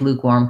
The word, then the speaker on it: lukewarm: um i don't like lukewarm coffee in that sentence i stressed luke lukewarm although lukewarm is